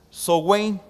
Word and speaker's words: Samhain: que celebraban los druidas a samhain en la antigua bretaña se pronunciaba software y en el intento